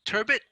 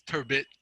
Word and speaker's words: turbot: uh it's called of turbot and a turret and when i was young i i thought it was turbo and i found out that it's turbot and that's the the correct pronunciation um because i had